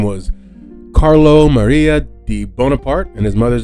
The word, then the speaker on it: Bonaparte: this guy's name because I honestly for a long time thought it was like Bonaparte right it's it's it's not it's just it's just bonapart um he was born